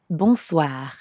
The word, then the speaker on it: bonsoir: We already know how to pronounce the first part, bon, because it's the same in bonjour. And the second part is soir. That means evening. Soir. The end sound is kind of like saying ah at the dentist.